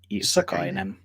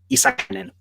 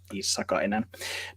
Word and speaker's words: Issakainen: The last name is said like that. It's Issakainen. With American people, they usually, it seems like they make it very fast. They try and say it like Issakainen, but there's no need to rush. It's just Issakainen. But I'm always happy if